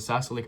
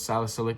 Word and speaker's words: salicylic: So, it's salicylic. My bad. I said it wrong. I said salicylic, but it's salicylic acid.